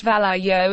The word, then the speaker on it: Vallejo: congregate for lunch still Vallejo pronounced Vallejo is no Promised Land